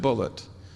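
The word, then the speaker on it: Bulliet: New York at Colombia he spells his name b u l l IE T and he pronounced it bullet he corrected me he said no my name's not bullier it's bullet and uh he's done a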